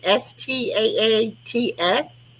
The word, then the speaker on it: Staats: Staats. It's like stats, but with 2 A's.